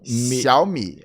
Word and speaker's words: Xiaomi: O primeiro fala Xiao e o segundo fala Mi. Essa sílaba Xiao a gente não tem aqui no português, esse tritongo, né? X, I, A, O. Mas em mandarim existe esse fonema. Então é Xiao, Mi.